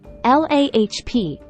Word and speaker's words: larb: Explorations now let's begin LARP pronounced lahp is a dish that hails